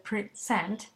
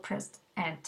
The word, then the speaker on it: present: Piensen en la palabra present, puede ser present o present, dependiendo si es el verbo o el sustantivo.